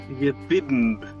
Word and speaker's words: Jimb: For how to pronounce the silent B? JIMB'S.